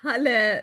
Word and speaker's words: Hela: Next, I've got Hela, or how do you pronounce it? Yeah, thank you so much. It's halle, like hallelujah.